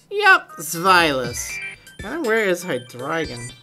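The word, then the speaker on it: Zweilous: I want to hear how to pronounce Zvilas, huh? Hopefully I've been saying it right. Zvilas. Yep, Zvilas.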